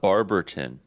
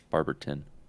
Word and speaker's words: Barberton: yeah Akron what about Barberton b-a-r-b I say Barbara b-a-r-b-e-r-t-o-n but it's pronounced in Barberton I'm glad that you put emphasis on the T Debbie and don't use a d Barberton people say Barberton